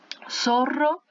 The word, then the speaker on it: Zorro: Zorro, tá? Se escreve com zeta, tudo com som de S, som de S, ok?